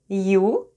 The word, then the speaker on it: Ю: Let's review letters E, U, and Я.